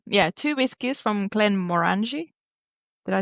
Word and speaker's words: Glenmorangie: Is it not Glen Morangy rhymes with orangey? Yeah. Yeah. Yeah. Glen Moran Morangi. Morangy. Morangi. Moranchi. Depends how you say orange.